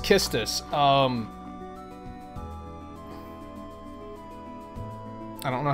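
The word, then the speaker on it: Quistis: and then Scarlett told me that it's not pronounced quistus it's pronounced kistus and I was like you're blowing my [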